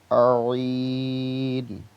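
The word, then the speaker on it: عين: জ, জ, আইন। গলার একদম ভিতর কণ্ঠনালীর ওখান থেকে আসবে।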